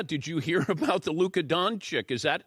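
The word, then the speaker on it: Dončić: she said yeah did you hear about the Luca donick is that how you pronounce his name I go you know it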